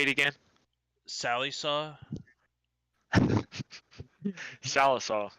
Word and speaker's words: Sallisaw: Sallysaw? Salisaw. Sallisaw. To Vian area or Vane. Language is weird, where I's sometimes can be pronounced as like A's.